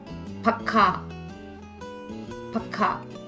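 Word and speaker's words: पक्का: Here, the first ka becomes half and joins the next ka, forming it to sound ikha, pakka, pakka. The next word is vakt.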